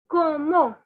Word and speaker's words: comment: we'll go very slowly the first word that you can see with the spelling is c-o-m-m-e-n-t which is like commend in english the pronunciation is como so forget the english